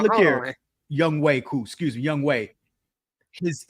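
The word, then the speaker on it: Younghoe Koo: So shout out to Young Man on that one, or how the hell you pronounce his name. Nice. But cool. I'm real still. Say it again. Young Way Cool.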